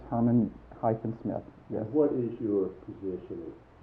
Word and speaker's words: Herman-Smith: How do you spell it? And is it Herman-Smith? It's Herman-Smith, yes.